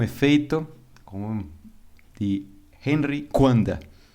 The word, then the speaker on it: Coandă: efeito com de Henry kanda a pronúncia é diferente porque romeno mas é mais ou